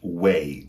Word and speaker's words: way: last example is the word way w a y for example do you know the way to the station which has the exact same pronunciation as the verb weigh we i g h